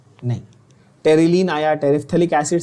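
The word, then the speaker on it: terephthalic: बोलते, उसको हम लोग टेरिथैलिक बोलते हैं। क्या ये क्लियर हो गया? कोई पूछेगा टेरिथैलिक, या इसका actual pronunciation should be टेरिफ्थैलिक। टेरिफ्थैलिक, द PH is pronounced फ।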